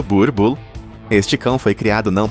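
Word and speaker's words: Boerboel: O Boel, pronunciado Burbull.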